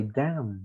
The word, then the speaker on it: damn: Or we say damn. We don't pronounce the N's, right?